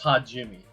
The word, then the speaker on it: Hajime: Go Hajime. That's how to pronounce his name, right? Nah, it's Hajime. That's how you pronounce it.